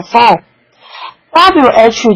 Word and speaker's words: phone: 所以电话我们叫做 phone，WH 叫做或或或，W 不发